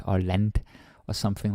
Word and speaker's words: land: This is Danish, right? Like len l a n d is len, not land or lent or something like that.